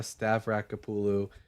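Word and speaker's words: Stavrakopoulou: Uh, King Manasse and Child Sacrifice, Biblical Distortions of Historical Realities, uh, by Francesca Stavraulu. Um, Stavraulu is spelled S T A V R A K O P O U L O U.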